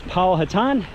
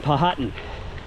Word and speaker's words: Powhatan: But there was a gentleman, Indian leader, I've heard his name pronounced two different ways, Powhatan and Powhatan. I like Powhatan better.